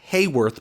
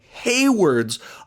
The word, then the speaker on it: Hayward: into hayward's office office not hayworth but hayward's office there is a difference in pronunciations there some people have been saying it wrong hayward's office and she's